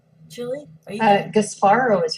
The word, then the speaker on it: Gasparo: just saying it funny her last name is pronounced like an Italian how would you pronounce her last name Julie are you gasparo is how I would gasparo and that's what I